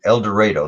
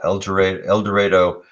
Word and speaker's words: El Dorado: It was in El Dorado. That's how they pronounce it. El Dorado, Oklahoma, near the Texas border.